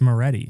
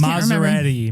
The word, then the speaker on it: Moretti: Why do you keep adding syllables to his name? It's Moretti. I know. I just Maserati.